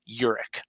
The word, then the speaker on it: Huryk: little tough to say if you look at is spelled hu ryk but it said Urich well my uncle when